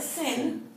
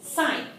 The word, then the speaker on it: sine: The abbreviation is, it is not a sin. Please don't call it a sin. It's not Sunday school, so this is sine, okay? Even though it says S-I-N, and it could be pronounced as a sin, please, it's sine, okay?